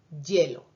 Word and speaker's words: hielo: Originalmente el sonido inicial sería una I, pero porque está al principio de palabra y está la E ahí, al final lo pronunciamos más como Y, hielo, ¿verdad?